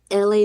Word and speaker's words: Elay: Pronounced like LA. Not LA like the city.